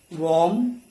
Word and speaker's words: warm: Okay, in all these words, you don't have to say letter R. It is silent. So farm, this is warm, barn, born, okay, corn, storm.